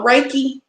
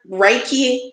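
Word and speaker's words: reiki: what it does have y'all heard of uh raiki and I might not be saying it right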